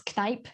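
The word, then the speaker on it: Kneipp: huge fan of i never know how to pronounce it it's knight k-n-e-i-p-p but it's this european brand i was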